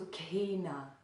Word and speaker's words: Sukhinaḥ: then the last word there's KH next to each other that also is one letter so that letter is pronounced so K so Kaena so there's also that little bit of aspiration that little bit of breath leanness there so k na so